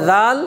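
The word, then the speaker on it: ذال: ওই উচ্চারণটা করতেছি জলে জাল নরম হবে কি জালের একক কি জাল একবার নরম করে জাল জাল জাল সবাই মিলে জিহ্বার আগাটা সামনের উপরে দুই দাঁতের সাথে লাগান জাল জাল জাল র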